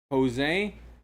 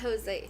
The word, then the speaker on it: Jose: it's Jose. I can't. We can't say brand name. Oh, everybody knows Okay, it's okay. tequila, but only one brand. It rhymes with Mose.